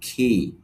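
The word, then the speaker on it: key: তাহলে এটা কি না বলে বলবো খি।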